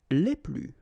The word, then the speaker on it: les plus: Okay, so keep in mind that I don't pronounce this final S here, so we get le plus, la plus, les plus.